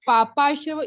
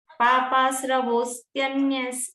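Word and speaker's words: पापास्रवोऽस्त्यन्य: पापाश्रवोन्या पापाश्रवोन्या वे सभी आधे अक्षर हैं , है ना? इसीलिए उच्चारण में समस्या है।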